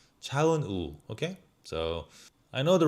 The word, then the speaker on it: 차은우: 차은우. 우. Not a wu. 차은우.